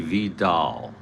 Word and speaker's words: Vidal: It's really vidal if it's Jose and it's phonetically Spanish. Vidal there might even be a uh accent over Vidal.